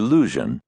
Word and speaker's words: Luzhin: by my creature, Grandmaster Lusion. The name rhymes with illusion, if pronounced thickly enough to deepen the U into oo.